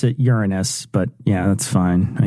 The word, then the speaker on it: Uranus: I pronounce it Uranus, but yeah, that's fine, I guess.